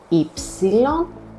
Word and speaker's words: υ: And here we have ypsilon, which is not pronounced as u. Very common mistake again. we pronounce it as E. It's one of the 6 E's in Greek.